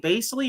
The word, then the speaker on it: Bassey: How do you say his name? Basley or Basley or whatever? I wouldn't mind trying to develop him. It's Bassey. Yeah, Bassey. Yeah, I don't know.